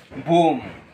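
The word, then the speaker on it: bomb: ইংরেজি শব্দে এম এর পর যদি বি থাকে তাহলে সেই বি উচ্চারণ হয় না। চলুন লক্ষ্য করি বোর্ডের দিকে। বোম। এখানে কিন্তু বোম হবে না।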